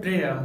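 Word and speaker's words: prayer: Friends सिर्फ दो ऐसा वर्ड्स है जहाँ पर वाई साइलेंट होता है और वो है प्रेयर और मेयर।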